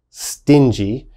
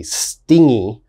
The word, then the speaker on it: stingy: on the pronunciation first stingy a lot of my students mistakenly say stingy okay you gotta be very careful it is pronounced stingy and what does stingy